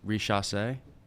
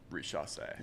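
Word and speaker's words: Risacher: I also learned how to pronounce the #1 overall draft pick's name. Say it. Oh, yeah. It's a good one. Richasse. Richasse.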